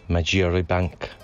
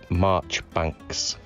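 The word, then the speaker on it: Marjoribanks: a french jay and it was going to be majira bank it's not it's march banks march banks i would not have gotten that so this is another one of those ones where this pronunciation and spelling have gone two different ways this looks german carvalhan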